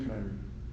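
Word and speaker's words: Kiniry: It's pronounced Canary.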